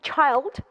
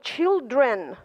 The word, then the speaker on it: child: Один ребенок будет child. Причем, посмотрите, здесь читается I, а вот дети уже будут children.